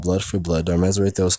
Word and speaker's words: Darmesire: Since the key of the red faction is Desire, it's Darmesire. So the way it's spelled is like D, like Darm, and Ezre, so arms and desire, because he has arms, like, not arms as in limbs, but like weapons.